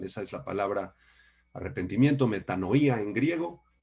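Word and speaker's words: μετάνοια: La palabra griega metanoía, con acento en la I, metanoía, significa literalmente cambio de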